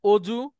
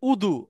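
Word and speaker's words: وضوء: আচ্ছা, আমরা বলি না অজু, জি জি স্যার। এটা হচ্ছে উদু।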